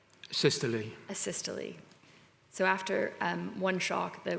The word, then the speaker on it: asystole: After one shock, the patient's rhythm went to, how do I pronounce that word? It says? Systole. Asystole.